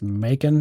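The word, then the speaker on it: Makin: case called carson versus probably pronounced macon m-a-k-i-n which is further eroding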